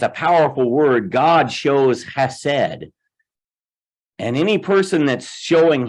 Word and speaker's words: chesed: Sometimes it's spelled H-E-S-E-D, but a lot of times you see it with a C-H-E-S-E-D because it's, what did they use the term guttural? Hebrew has that kind of thing.